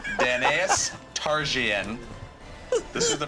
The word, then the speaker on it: Daenerys Targaryen: I'm reading the exact pronunciation I was given. Daenerys Targaryen.